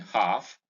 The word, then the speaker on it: half: column, in calf, in half, in palm, in calm, in psalm. The L in each of these words in this column is silent. These are just examples of words that have L as silent.